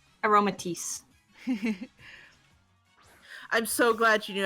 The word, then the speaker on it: Aromatisse: Aromatisse. Aromatisse.